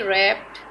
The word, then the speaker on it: wrapped: is the silent letter he wrapped the wrist watch w is the silent letter do you know who